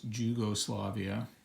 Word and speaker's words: Jugoslavia: And here is Jugoslavia, which I imagine is just, it's a different way of pronouncing it. The J forms the Y sound in some languages, and nobody really cares